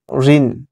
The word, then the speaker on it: ঋণ: ঋণ এর উচ্চারণ, ঋণের উচ্চারণ কিন্তু ঋণ, রস্যি দন্তন্য নিচে হসন্ত, ঋণ।